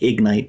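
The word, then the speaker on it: Egnyte: service is called ignite sounds like ignite but it's spelled EG NY T this is after we've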